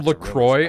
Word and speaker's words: Lacroix: one even knows but can you stop calling him Lacroix I understand you're from the United States of mispronunciation but if he has a French name at least respond to him like he was a French man if the Canadian in